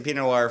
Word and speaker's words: Pinot Noir: Yeah, it's a Pinot Noir.